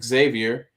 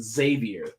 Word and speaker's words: Xavier: is insistent that you do not say the X. His argument is, would you say xylophone? No, you would say xylophone. Xavier is actually pronounced Xavier.